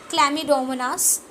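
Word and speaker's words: Chlamydomonas: Have this क्लमिड क्लम क्लमडोमनास we have this क्ल मी okay सी सी सी सी सी सी सी एच चमी नहीं बोलते हैं उसको क्ल बोलते हैं जो सी होता है साइलेंट होता है क्ल डोमोनास डोमो नास ओके अ ओके।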